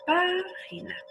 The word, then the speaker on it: página: Entonces, página es esdrújula, ¿verdad? Porque la sílaba tónica es la antepenúltima, no es la última, na, ji, página.